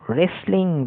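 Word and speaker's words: wrestling: পরেরটা রেসলিং, যার মানে কুস্তি, রেসলিং, ডাব্লু নয়, র থেকে উচ্চারণ হয়।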